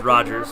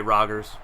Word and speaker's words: Rodgers: back clipping on Rodgers I know it's Rogers but be my brother Brandon they've always found it funny that that is pronounced Rogers there's no D in it so we always